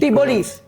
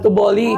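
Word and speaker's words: T'boli: Tibolis. Yun ba yun? Yun. I'm toolly. Ah so ang pronunciation niya isol to bolly kasi 'yun 'yung may akala ko it's tiboli or okay lang naman din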